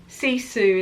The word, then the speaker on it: Sisu: So this book, Sisu, the Finnish Art of Courage, is the same sort of book as Sisu is how you pronounce it.